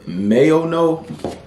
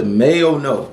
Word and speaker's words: MAONO: And in this review, we have the MAONO. Am I saying that right? The MAONO. Yeah, I've been pronouncing it wrong forever.